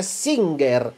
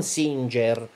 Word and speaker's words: Singer: questa questa Singer perché si pronuncia Singer non Singer poiché forse non lo sapete Ma si tratta di una Marta americana è americana USA e la pronuncia è Singer il tizio che l'ha inventata nell'800 che ha brevettato le macchine da cucire o qualcosa del genere si chiamava Singer e quindi abbiamo qua